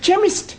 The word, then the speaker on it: chemist: that is making it chemist no the CH is pronounced c ah now I'm understanding